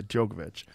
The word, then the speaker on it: Djokovic: you say the guy's name the tennis player Novak Djokovic yeah Djokovic I mean we talk about the healthiest human